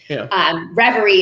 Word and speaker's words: Reverie: Reverie, yeah.